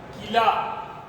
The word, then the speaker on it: कीला: इस पर थोड़ा जोर लग रहा है क्योंकि ये बड़ी की मात्रा में है।